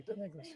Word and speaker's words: Denegris: I have her phonetically, Denegris.